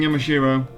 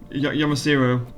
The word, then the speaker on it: Yamashiro: I'm going to keep mispronouncing Yamashiro. Yamasiro. Yeah. I'm not used to that not being an H though.